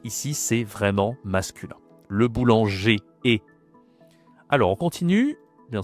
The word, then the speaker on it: boulanger: En français, on dit e, on ne dit pas r.